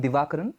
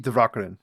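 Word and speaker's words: Divakaran: So, uh a wonderful physicist and mathematician professor PP Dvakaran who PP Dvakaran.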